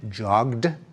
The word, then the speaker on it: jogged: like a t walked when we say jogged we pronounce it as a d joged and when we say